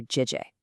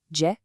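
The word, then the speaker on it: 姐: always a really thoughtful compliment to call her Jie. Let's pronounce that. Jie.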